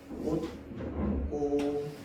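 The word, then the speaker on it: 옷고름: 자, 다음 옷구름 얘 발음 어떻게 되는데 옷꼬름 이렇게 발음됩니다.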